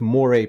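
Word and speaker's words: moiré: So the word is pronounced moire, not moire.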